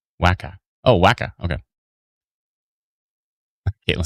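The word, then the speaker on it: Wakaw: Waka tracking to the Did I pronounce it wrong? Wacka.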